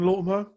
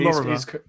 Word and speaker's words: Lorimer: John Latimer? Yeah, we've got John Lorimer, who was the owner of FCS Good Compliance. job you said his name wrong, because I said it wrong. Yeah, John Lorimer.